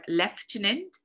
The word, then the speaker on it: lieutenant: from latin such as uh lieutenant or leftin there are two different pronunciations depending on whether you speak british english or american english uh chauffeur literature itself